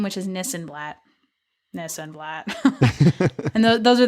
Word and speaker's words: Nissenblatt: i this and that because it rhymes it rhymes with my last name which is nissan blatt no sunblock and those are the best places